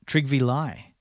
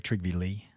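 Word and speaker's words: Trygve Lie: all right who we got here this is triv Li the first Secretary General of the UN he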